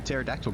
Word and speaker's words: pterodactyl: Um, with that being said, why can't you hear the pterodactyl going to the bathroom because the P is silent.